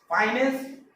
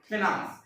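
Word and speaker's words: finance: जैसे कि फाइनेंस, फिनांस, फाइनेंस, फिनांस। पहला ब्रिटिश प्रोनाउंसिएशन है और दूसरा वाला अमेरिकन यूज करते हैं।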